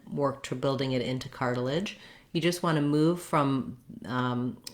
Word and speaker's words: cartilage: So first of all, in the word cartilage, we have 3 syllables. The first syllable, car, is stressed, and it has the clear R diphthong.